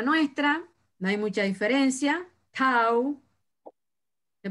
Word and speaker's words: tau: Tau, se pronuncia tau.